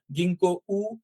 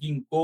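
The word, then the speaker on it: ぎんこう: এর পরে যে আছে এটা গিংকো উ হবে হবে না এটা গিংকো হবে হ্যা এটা কোটা একটু টান দিয়ে বলতে হবে গিংকো বেশি টান না আবার হ্যা যাই হোক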